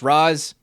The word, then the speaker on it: Ra's: I know it's pronounced Raz, but I don't care.